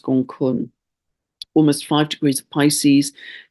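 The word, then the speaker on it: Gonggong: right now which is gun spelled gong gong but pronounced gun almost five degrees of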